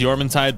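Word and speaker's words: Jormuntide: only pal better is jman Tide ignis I know it's pronounced yman tide but it feels weird to say it that way it does have level four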